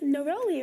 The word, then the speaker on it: neroli: a like i always thought that was neroli yeah that and then like i've asked people about it and like people who know about it say it's neroli right i had never heard it pronounced like that yeah and that is